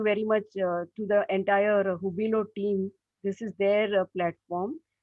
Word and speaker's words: Hubilo: I also had to learn to pronounce what is this Hubilo, Hubilo. Now I know it is Hubilo.